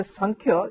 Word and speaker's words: Samkhya: When I say San, when there is a N pronunciation, no pronunciation, there is also a mark above M.